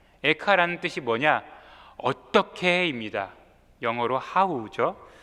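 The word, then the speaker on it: איכה: 수 있겠죠 그런데 그 히브리어의 제목 또한 발음이 에카입니다 에카라는 뜻이 뭐냐 어떻게입니다 영어로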